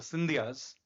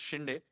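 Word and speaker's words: Shinde: Um their descendants are now known by the anglicized versions the Cindyas but they are actually their real pronunciation is Shindai and Maharaji Shindai was one of the most interesting characters of 18th century India.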